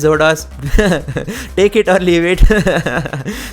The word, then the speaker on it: XoDos: And by the way, some of you guys have told me to pronounce Zordos emulator as Exodus emulator. Well, I like to pronounce it as Zodas.